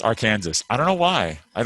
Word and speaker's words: Arkansas: to say the name of this river it's pronounced arkansas i don't know why i don't know why